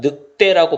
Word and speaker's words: 늑대: 된소리로 쓰지 않아도 사람들이 이 늑대 를 발음할 때 어떻게 바람 한다 느 때라고 발음을 해요 그러니까 굳이 된소리로 쓸